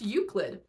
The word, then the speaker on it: Euclid: a short one um look at this word and tell me how you think it's pronounced you're probably wrong it's pronounced uid I Googled it um this is a